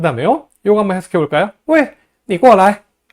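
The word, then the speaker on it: 喂: 왜? 하고 제1성으로 읽으면은 전화할 때 여보세요 라는 뜻이고요. 왜? 하고 제4성으로 발음하면은 이봐, 뭐 여보시오, 야 하는 식의 부르는 소리입니다.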